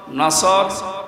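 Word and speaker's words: نصر: মাহফিলে প্রবেশ করছি সূরা কোন সূরা বলেন বলেন নসর না নাসর নাসর নুন সোয়াদ র নাসরুন শব্দের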